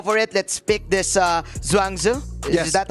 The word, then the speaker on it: Zhuangzi: Let's pick this Zhuangzi. Is that how we pronounce it? Yes, sir. Zhuangzi, and let's go from there.